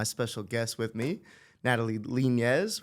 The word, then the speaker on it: Linez: I got my special guest with me Natalie lineez right that's how you pronounce it okay there you go a little